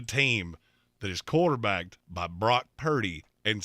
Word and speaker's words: Brock Purdy: Francisco at two Jeremy two words one rhymes with rock and roll one rhymes with dirty oh Rock dirty Brock Purdy that's now his name